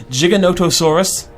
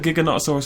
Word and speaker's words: Giganotosaurus: higher than the herbivores Giganotosaurus Knight is how you pronounce it I used to call it Giga not a source all the time do you know a